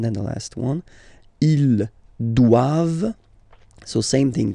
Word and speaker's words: doivent: And then the last one, ils doivent. So same thing, classic ending for the plural form, E-N-T here. Okay, but then you don't pronounce it.